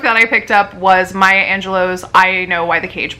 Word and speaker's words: Angelou: the first book that I picked up was Maya Angelou's I know why the Cage Bird Sings and